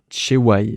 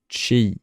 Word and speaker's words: Chei: justement, alors qu'elle s'appelle Chei. J'ai regardé du coup les hangul et ça se prononce Chei, non pas Chewai, parce qu'en fait le Y est majuscule, je pensais que ça se prononçait Chewai.